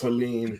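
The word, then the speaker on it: Helene: So yeah, it's pronounced Helen because there's a E at the end of it.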